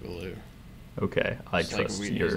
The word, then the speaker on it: Ballou: That's, isn't it Kurt Ballou? I don't know how to say his name. You're the Converge fan, so I'm counting on you. I'm pretty sure it's Kurt Ballou.